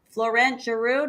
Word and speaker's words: Florent Geroux: Florent Geroux, did I say it right? Yep. I feel like I should say it with a French accent. Florent Geroux.